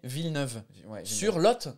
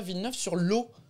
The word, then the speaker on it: Villeneuve-sur-Lot: c'est drôle parce que c'est écrit villeneuve sur moi j'aurais prononcé sa villeneuve sur lot elle voter parce que tu dis un lot de parking à l'o2 mais c'est sur le lot c'est pour ça que ça s'appelle villeneuve sur lot la lumière mais